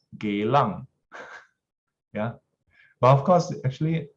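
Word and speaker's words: Geylang: do i stay then i'll say geelang and say very properly the pro correct pronunciation is gaelang yeah but of course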